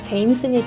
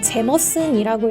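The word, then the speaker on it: Jameson: 우리나라에서 가장 많이 알려진 아이리쉬 위스키는 역시나 제임슨일 텐데요. 사실 아일랜드 식으로는 제머슨이라고 읽어야 맞는 표현이라고 해요.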